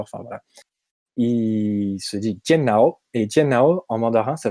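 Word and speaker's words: 电脑: contrairement à genre 90% des langues, ne se prononce pas computer, ordinateur, ordinateur, enfin voilà. Il se dit tiannao, et tiannao en mandarin, ça veut dire cerveau électrique.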